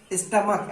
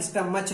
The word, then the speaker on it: stomach: स्टमक, STOMACH, स्टमक होता है, स्टमच नहीं। स्टमक मीन्स पेट।